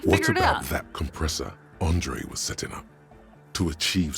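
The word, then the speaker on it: André: said this before but you know how this is pronounced Andre when it's French based I keep saying it wrong because when it's Russian based it's Andre ah yes yes yes yes which is what you're familiar with yeah yeah don't be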